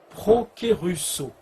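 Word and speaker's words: προκηρύσσω: Alors, le mot destinée, dans le grec, se prononce prokérusso.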